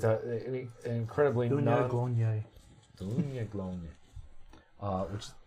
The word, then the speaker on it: Daoine Gloine: No, it doesn't sound like it's spelt in English because it's not English. Daoine Gloine. Dunye. Dunya Glonye. Okay.